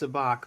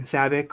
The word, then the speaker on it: Sabacc: Uh, I know it's pronounced sabach, but I I wanted to it's just kind